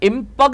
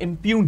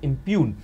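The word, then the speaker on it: impugn: आसान है आपके लिए यह इं पग नहीं है आई एम पी य जीी एन में हम जी को प्रोनाउंस नहीं करते ये इम्यून है आई एम प यू जी एन को हम कहते हैं इम्यून और दोस्तों इस इम्यून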